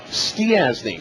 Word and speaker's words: Stiasny: Is it Stasny? Stiasny. Stiasny. So you actually pronounce all the vowels in your last name.